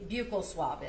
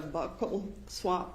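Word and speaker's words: buccal: the jury what a bugle swab is? So, a bugle swab or a buckle swab, depending on different people say it different ways. It's spelled B U C A L.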